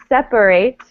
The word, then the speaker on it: separate: okay so we really we really close the syllables together we don't we kind of mush everything together okay separate all right